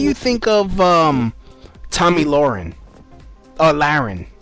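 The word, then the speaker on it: Lahren: Laren. That's how you pronounce her name.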